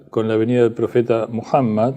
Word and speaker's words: Muhammad: venida del profeta muhammad Mahoma conocido como moma una deformación Mahoma de muhammad en inglés y en francés Es más cerca la pronunciación Mohamed es más cercano a muhammad que lo que los españoles no se esforzaron mucho por pronunciarlo pero bueno mammad que